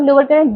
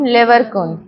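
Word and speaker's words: Lieberkühn: Between the villi, दो villi, सबसे पहले क्रिप्स ऑफ लिबरकुन, दो विलाई के बीच का जो स्पेस है that is crypts of, pronunciation करो तुम मेरे साथ, फिर तुमको दिक्कत, ऑफ लिबरकुन, ठीक है।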